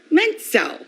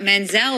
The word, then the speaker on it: Menzel: for a stage name I thought Menzel would be pronounced easier than the tea plus it was people would say mental like mental and pencil and so then when